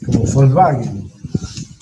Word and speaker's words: Volkswagen: este wing min y el alemán se pronuncia la w cómo como ve volkswagen muy similar al